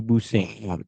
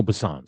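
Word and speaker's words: Busan: One is Parasite and the other one is Train to Busousing. Train to Bassan. Oh, Bassan. Sorry. Train to Basan. I don't speak Korean. That's the English pronunciation, but that's okay.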